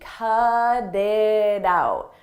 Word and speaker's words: cut it out: In American English, when a T comes between vowels, we change that to a d, a very soft D. Cut it out, cut it out. And I pronounce all 3 as one.